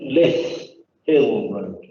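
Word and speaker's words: Lyth Hill Road: Chair, could I say it's pronounced Lith Hill Road?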